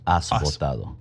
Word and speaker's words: Has votado: The H is silent. It's like Has Votado.